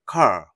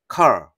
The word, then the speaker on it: car: 거예요 fine find find 그리고 카이 자동차란 뜻인데 끝에 알바룸을 내준다는 거 car car 이런 식으로요 아이는 아로마는 소리